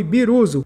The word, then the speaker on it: Birusu: Com isso, seu nome quase foi Biruzu, a pronúncia japonesa de vírus em alemão.